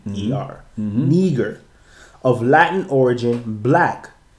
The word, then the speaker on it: Niger: It's spelled here Niger, but the pronunciation is putting Neeger.